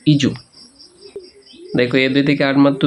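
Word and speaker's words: edu: প্রতিষ্ঠানে ব্যবহার করি ইজু ইডি ইউ ডি ইউ ইডু না এটার উচ্চারণ হচ্ছে ইজু ইজু দেখো এদের থেকে আট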